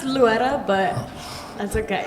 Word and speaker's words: Loera: You could say like Luetta, like with a D. Luetta. Really? Yeah. How's a D get in there? Well, because you're supposed to roll your R, but if you can't roll your R, then it's like Luetta.